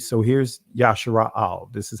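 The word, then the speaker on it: ישראל: Jacob's name was changed to Israel, or Yashara'al, right? So here's Yashara'al.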